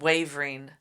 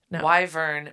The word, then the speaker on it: wyvern: are dragon likee creatures is that how you say it yes I literally read wavering wyvern makes so much more sense yes wyverns are Dragon